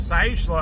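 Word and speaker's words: Siuslaw: The only thing in the Midwest where I grew up that rhymes with Sish law is coastlaw.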